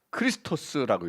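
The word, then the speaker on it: Χριστός: 센텐스가 됩니다 그 다음에 x는 그건 이제 그 크리스토스라고 읽어요 앞에 지금 우리를 말합니다 CH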